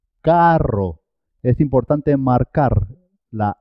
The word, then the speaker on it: carro: Por ejemplo, cuando se escribe doble, dos R's, siempre suena doble. Carro. Carro.